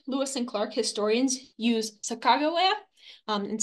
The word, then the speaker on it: Sacagawea: Sacajawea, Sacagawea, Sacacawea.